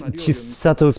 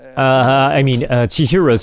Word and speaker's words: Chihiro: So at 9 minutes, Chisato's parents, Chihiro's parents, I keep saying her name wrong.